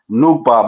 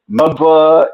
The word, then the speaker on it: Nuba: So Oh, growing up, they would be like saying mispronounce my name as Nubba, and the way they people would fucking mess it up and stuff like that.